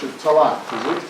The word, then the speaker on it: Tallaght: stations for Donald, Collinstown, and how do I pronounce it? Tallaght, is it? Tallaght, yeah.